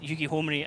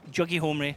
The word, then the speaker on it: Yugi Homri: And to my credit, I have never ever pronounced Yugi Homri as Juggy Homri, which I'm sure a lot of people would have been expecting.